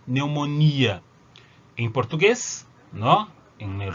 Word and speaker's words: neumonía: Neumonía también lleva tilde, ¿no? Entonces en este caso sí, yo tengo la tónica, yo tengo esta I tónica, miopía, neumonía.